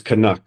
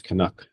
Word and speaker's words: Canucks: a canu Canadian um I've heard some interesting pronunciations of it though kuk kuk and um the way it is pronounced is kanak so if anyone's listening they're not sure it's kanuck um but but yeah